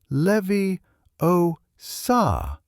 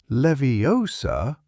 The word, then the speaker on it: Leviosa: It is Levie Oa, not Leviosa.